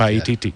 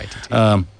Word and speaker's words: Paititi: Paititi. Yeah. Paititi.